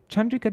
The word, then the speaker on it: Chandrika: Chandrika doesn't have a long A though. The first A isn't long. The last A is long in Chandrika.